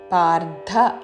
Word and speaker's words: పార్థ: ఆఘాతతో తస్య అజ్ఞానం చాభిజాతస్య పార్థ రాకి మహాప్రాణాక్షరము ధావత్తు పార్థ అని ధాతో పలకకూడదు. పార్థ సంపద మాసురీం రీ దీర్ఘము చివరిలో పొల్లుమా. పార్థ సంపద మాసురీం.